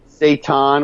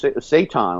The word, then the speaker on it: seitan: Oh, yeah, it's seitan, like Satan, but it's seitan, I think is how you pronounce it.